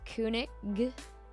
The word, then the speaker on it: König: It's just wrong sound at the end. It's supposed to be a G, not a sh. König. König. König. König. König. Kernik? Try to hold the O sound straight. Kjaunik.